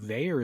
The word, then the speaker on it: Vaer: Well, I didn't say it, but Veyer is spelled VAER.